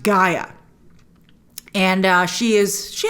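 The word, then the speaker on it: G'iah: is all growns up and her name is pronounced Gaia and uh she is she has some relationship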